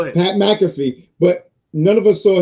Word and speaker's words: Pat McAfee: definitely butchered that name you said matt packafy you you definitely butchered it that time pat mcafee go ahead pat mcafee but none of us